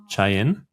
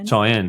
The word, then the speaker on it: Cheyenne: And I reckon the people out there now, I don't know how to pronounce it correctly. Is it Chen? Is that where you the world champs are? Cheyenne.